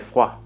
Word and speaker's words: froid: In French, il fait froid. Notice that the D sound at the end of froid is silent.